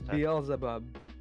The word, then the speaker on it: Beelzebub: reluctant bezel bub instead can you pronounce it correctly it's beelzebub beelzebub no it's not beelzebub it's beelzebub no yeah it's bezel bob they pronounced it deal zip up so you're gonna pronounce it beales above i am sorry